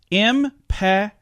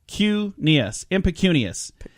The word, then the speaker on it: impecunious: Our grandiloquent word, by the way, is impecunious. Impecunious.